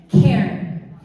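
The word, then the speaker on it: cairn: like the word it's it's like Ken but not two syllables just one and it's spelled c a i r n Caren and you will see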